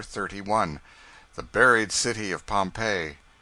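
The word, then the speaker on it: Pompeii: of Fame the buried city of Pompei they pronounce it Pompei I always had an idea that you went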